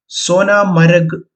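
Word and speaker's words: Sonamarg: മനോഹരമായ ഒരു ഹിൽ സ്റ്റേഷനാണ് സോനാമാർക്ക് കാശ്മീരി ഭാഷയിൽ സോനാമരക് എന്നാണ് ഉച്ചാരണം സ്വർണ്ണത്തിൻറെ പുൽത്തകിടി എന്നാണ് സോനാമരകിന്റെ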